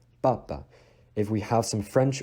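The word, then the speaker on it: папа: And just like ga, you need to make sure that you don't breathe out that little puff of air that you normally breathe out in English. It's not like pa. It is papa. Papa.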